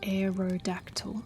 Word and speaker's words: Aerodactyl: And you say it like aerodactyl.